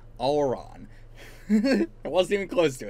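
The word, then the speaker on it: Auran: uh aora i or uh aoron is it aeoron how do i pronounce this thing hold on not even close it was auron auron i wasn't even close to it but yeah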